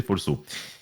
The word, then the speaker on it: Folceau: Et c'est qu'après que je me suis rendu compte qu'en fait, la prononciation, ça faisait Folso.